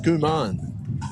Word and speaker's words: Skuman: So it's pronounced Skuman, is it? Yeah, Skuman, yep.